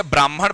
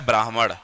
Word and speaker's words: ब्राह्मण: ये वैसा ही है जैसे आप गलती से ब्राह्मण ब्राह्मण करते रहते हो, होता है ब्राह्मण।